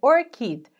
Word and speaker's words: ORCID: hoje é o orquídea sim a pronúncia é essa mesmo orquídea orquídea é a sigla